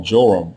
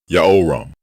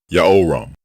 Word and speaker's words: Jehoram: Another mispronounced royal name is the name of the king people call Joram and Jehoram. His name is spelled two different ways in ancient Hebrew.